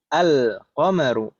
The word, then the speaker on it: القمر: An-najmu al-qamaru. Gitu kali saya. Bukan al-qamaru. Al-qamaru. Di sana juga beda cara bacanya. An-najmu. An-najmu. Langsung idgham. An-najmu. Sedangkan yang kedua al-qamaru. Lamnya terbaca.